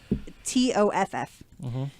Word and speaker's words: Toff: there's going to be a Matthew McConaughey and Kate Beckinsale Guy Ritchie movie called I think it's supposed to be pronounced Tough Guys. but it's TOFF.